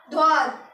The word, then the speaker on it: droite: तो राइट को बोलते हैं हम ध्वात।